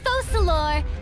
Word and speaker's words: Focalors: I, Focalors, hereby welcome you to the nation of Hydro and acknowledge the value and significance of your trip.